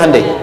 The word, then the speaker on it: Hyundai: ketika di sana bikin Honda sini Handai hyundaikan dibacanya Handai gitu Ini apapun yang dibuat Jepang Korea harus